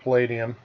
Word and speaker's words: Palladium: Um, and from Palladium, and it is pronounced Palladium because Kevin Symbieta, the fellow who wrote these